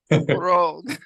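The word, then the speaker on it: להרוג: Now we have a hataf patah under the he. That means it is pronounced like a patah, an ah, but it's unaccented. So let's do it one more time. Unaccented. Laharog.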